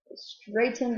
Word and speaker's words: straightened: past tense ending okay so the gh is silent in this word as it is a lot of times so we've got stir right ten straight in straightened out there hills automobiles